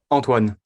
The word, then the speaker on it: Antoine: in your say your name once again please Antoine Antoine I guess you're a French right exactly